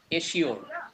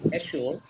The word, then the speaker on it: assure: We won't say this word assure. We won't say assure. We will pronounce this assure, assured, assured নিশ্চিত করা।